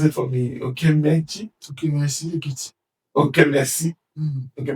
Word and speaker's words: Okemesi: Okay, so instead of the your ethnic nation going straight, can you pronounce it for me? Okay, Mechi? Okemesi Ekiti.